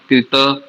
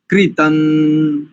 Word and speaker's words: कृतम्: दोनों को नकार करेंगे और कृता नहीं है कृता कृतम वाम कृतम वाम ऐसा अनुस्वार भी तो है